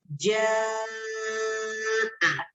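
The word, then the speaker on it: جَاءَ: Semisal di sini di dalam salah satu kata jaa. Jaa. Seharusnya begitu pengucapan yang benar. Jaa.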